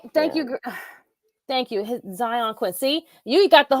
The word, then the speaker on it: Xyon: Zion Quinn. See, you got the Yeah. whole name. Like, and I found out that's not even how you even spelled it. It's spelled, hold on. It is It's XYON.